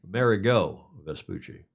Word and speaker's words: Amerigo Vespucci: The America Vespucci. Is that how you pronounce that? Yep. Amerigo Vespucci.